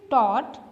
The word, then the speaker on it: taught: Another is taught. My father taught me how to drive. Taught, आप यहाँ taught तो नहीं ना कहते, taught जब आप बोलते हैं तो उसमें GH साइलेंट हो जाता है।